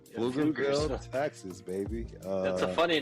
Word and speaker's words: Pflugerville: Yeah, starts with a P, right? The P is silent. Pflugerville.